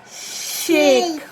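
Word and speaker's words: sheik: the sound a sure so here is a consonant diagraph sure the sound of e i a and the sound of k so s-h-e-i-k shake very good shake s-h-e-i-k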